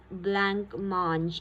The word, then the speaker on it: blancmange: Now, blancmange is a French word. Alright, blancmange. It's pronounced as blancmange.